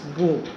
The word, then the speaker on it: bough: You will pronounce as bow. BOUGH. Bow. 5.